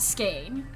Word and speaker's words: skein: Is it skein, skein, skeen? Because I pronounce it skein.